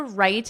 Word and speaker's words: write: And yet to write it, the more I sigh. Of course, right is pronounced the same as right, the opposite of wrong, but in this case, it's right. The W is silent, so phonetically, it would just look like this.